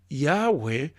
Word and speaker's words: Yahweh: While inclined to view the pronunciation Yahweh as a more correct way, we have retained the form Jehovah because of people's familiarity with it since the 14th century.